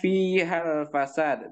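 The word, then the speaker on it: فيها الفساد: Nah, kemudian berikutnya fihal fasad. Di sini ada ha, ada huruf mat di sini, kemudian setelahnya hamzah wasal. Maka dia dibaca ketika wasal dengan tidak memanjangkan haknya.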